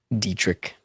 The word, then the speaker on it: Dietrich: Pronounced Dietrich, Paul Fly says. Dietrich.